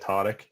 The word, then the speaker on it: Tariq: speaks Arabic here, but technically it should be pronounced like Tariq, but just the terrible, not terrible, but you know, the butchered attempts that I've heard throughout the years, I've kind of just said Tariq it is.